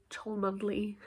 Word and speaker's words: Cholmondeley: Maybe it's a classic Cholmondeley Chumley situation.